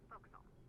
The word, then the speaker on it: forecastle: The forecastle on a ship refers to the upper forward deck of a sailing ship, but it's pronounced forecastle. Why is that? Try pronouncing it like an English sailor with no formal education. Forecastle. Forecastle. Over time it whittles down.